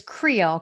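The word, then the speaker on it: Kriele: french like yeah i know this one is pronounced it's it's creole k-r-i-e-l-e or creole um schweitzer gamble which you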